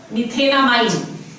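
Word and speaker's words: methanamine: Let's see, अगर हमारे पास है CH3 NH2, the root word over here meth, ane, e खा लिया, amine, methenamine. This is how you pronounce it, methenamine.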